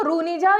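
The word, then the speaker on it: Rhunija: spelling मिली हुई है आर एच यू एन आई जे ए इसको रुनिजा भी पढ़ सकते हैं मतलब ये आपका जो एच है वो साइलेंट कर सकते हैं तो यहां पर है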